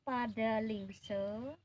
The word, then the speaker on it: padalingsa: Pupuh Maskumambang ini memakai pada lingse Fadli Zon tulisannya padalingsa karena kita lidah kita dialeknya sudah dialek Bali akhir kalimat dibaca a a Hai jadi tulisannya padalingsa